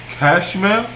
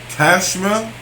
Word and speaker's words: Chashmal: Cashmel. Cashmel. It is spelled CHASHMAL. Cashmel.